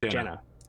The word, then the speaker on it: Jana: The Jana? J-A-N-A, Jana. Yeah. Like Janet, but with an A. Proudmore. Yeah. Not Jana. Yeah. I suppose you can pronounce it either way, however you wish.